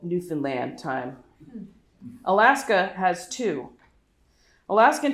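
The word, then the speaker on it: Newfoundland: a big effort to EMP emphasize the last syllable in New Finland they are very conscious that it sounds like New Finland and make a point to tell people from away how to pronounce their province Canada isn't at all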